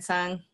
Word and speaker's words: Tseung: have youtube so it's my full name son last name TS eun-ji it's hard - hard to pronounce or people think it's hard to pronounce